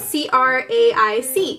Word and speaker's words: craic: It's spelled C-R-A-I-C.